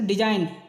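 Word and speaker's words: design: जाए तो आप सते डिजाइन एन से पहले जी है इसलिए जी साइलेंट है नेट नेट माने पिशु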